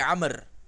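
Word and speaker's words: عمرو: Itu bukan Umar ya, tapi Amr. Membedakan Umar dengan Amr kalau ada wau di ujungnya setelah ro itu wau, maka bacanya Amr ya, bukan baca Umar. Kalau Umar enggak ada wunya. Coba lihat itu di situ tulisannya Umaro tapi ada wau. Berarti salah tulis bukan Umar tapi Amr.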